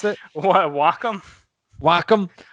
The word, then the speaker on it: Wacom: What, Wacom? Wacom. I say Wacom because it's supposed to be. It's short for. I think it's short for Washington Computing or Washington Communications or something like that.